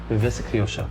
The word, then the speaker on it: Viveza Criolla: Viveza Criolla. Yeah. What is it? So if Brazilians live the football in Jogo Bonito terms, we have something different, something very different. We call it Viveza Criolla.